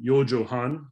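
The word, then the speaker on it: 四畳半: 4.5 maps in japan that's pronounced you'll see at the bottom yo johan literally four tatami's and a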